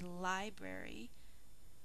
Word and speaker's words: library: syllable again we say library but the first syllable is emphasized and the rest are unaccented so we can think